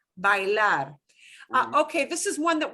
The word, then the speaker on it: bailar: Bailar, yeah. But now notice, don't pronounce it as bail. Oh, I right. know we've got an English word bail. We have to pronounce every vowel. Bailar.